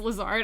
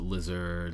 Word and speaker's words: Lazard: Is your last name pronounced Lazard? I'm so sorry. It's a lot of people pronounce it lizard lazard.